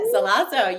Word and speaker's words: Zelazo: so excited to be here and um you pronounced my last name perfectly that's it zazo you've got it um yes and the book